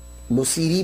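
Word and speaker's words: البوصيري: में इख्तियार की तो इसलिए आपको बुसीरा भी बुसीरी भी कहा जाता है। सैरी भी प्रोनाउंसिएशन बोलते हैं लेकिन बुसीरी ज्यादातर जो है वो बोला जाता है।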